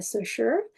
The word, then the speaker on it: Saussure: So today, this video will include content concerning Saussure, Ferdinand de Saussure.